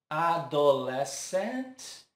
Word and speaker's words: adolescent: Adolescent. Essa aqui parece fácil, né? Como diz, tem a influência do nosso idioma. Mas aqui o stress também está em uma sílaba diferente. No less, ficando adolescent.